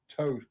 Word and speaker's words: Thoth: How do you think it's Toth instead of Thoth? I believe the way Egyptians just pronounce things, and it's also historically correct. I believe it's Toth.